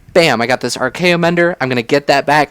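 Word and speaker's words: Archaeomender: It's RKO Mender, and I'm glad I pronounced that correct because I almost called it Archaeomancer, which is what it's kind of riffing off of.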